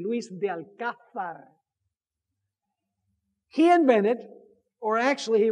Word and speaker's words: Luis de Alcázar: as it, you know, usually we say Alcazar, but we need to pronounce it properly. Luis de Alcázar. Actually, in Spain, it would be Luis de Alcázar.